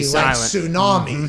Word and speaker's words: tsunami: be paw yep show silent t tsunami yes like that one you know that's the correct one i think okay by